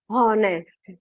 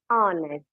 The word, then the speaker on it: honest: So it you cannot pronounce it as a honest. It is honest.